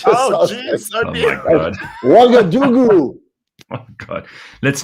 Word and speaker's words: Ouagadougou: It's Ouagadougou. Oh, Ouagadougou. Ouagadougou. Yeah, and you spell it O-U.